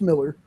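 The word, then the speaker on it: Millar: It's actually pronounced Miller.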